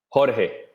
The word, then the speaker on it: Jorge: Okay, so settle this debate. How do you pronounce your name? Cuz I pronounce it one way and B pronounces another. Jorge. Aha. You win. You win. You were good in Spanish class, I think.